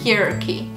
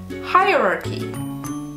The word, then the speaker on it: hierarchy: I understand if you think it's difficult to pronounce. The way I was saying it, which is wrong, is hierarchy. So it's not hierarchy, it's hierarchy.